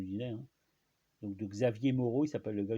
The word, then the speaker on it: Xavier: Donc Xavier, en fait le X se prononce che comme en catalan, comme en portugais ou en vieil espagnol, hein.